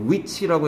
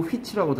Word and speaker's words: which: 얘는 H가 발음될 때도 있고 안 될 때도 있어요. which라고 해도 되고 휘치라고도 합니다.